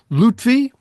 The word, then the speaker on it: Lutfi: Um uh we have two guests, uh Lutvy, did I pronounce that right?